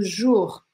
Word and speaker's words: jours: Perceba também que OU em francês, aqui, ó, a junção dessas duas letrinhas, a gente vai pronunciar U. A gente não vai falar o, a gente vai falar só U. Combien de jours? Combien de jours? E o S no final a gente não fala na língua francesa, tá bom?